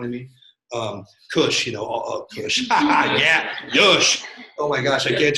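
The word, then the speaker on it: Yash: This gentleman's name is Y-A-S-H, but it's pronounced Yush, so we just go all over with it.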